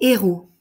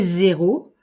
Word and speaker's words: héros: Ces héros. Si je fais la liaison, ces zéros, je vais dire exactement le contraire.